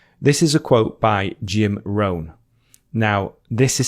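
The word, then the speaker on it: Jim Rohn: most time with this is a quote by Jim ran now this is spelled j i m r o h n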